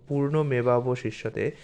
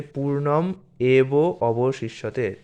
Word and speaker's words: পূর্ণমেবাবশিষ্যতে: সংস্কৃত মন্ত্র যদি আপনাদের উচ্চারণ করতে কঠিন হয় তাহলে এইভাবে উচ্চারণ করবেন, যেমন পূর্ণমেবাবশিষ্যতে। এটাকে ভালো করে একটু ভেঙে দেখুন। এটা হচ্ছে পূর্ণম এব অবশিষ্যতে। তো আপনি যদি উচ্চারণ করতে না পারেন তাহলে পূর্ণম এব অবশিষ্যতে এইভাবেও বলতে পারেন, বা পূর্ণমেবাবশিষ্যতে, পূর্ণম উদাচ্যতে, পূর্ণম উদাচ্যতে, পূর্ণম উদাচ্যতে।